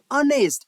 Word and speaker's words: honest: sound comes another like where the letter H is silent when pronouncing such words example including and h e i that is air air and honest h n s not